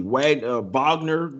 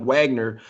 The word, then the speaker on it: Wagner: Wagner, it looks like Wagner, like wagging tail or something, but you really pronounce it Wagner.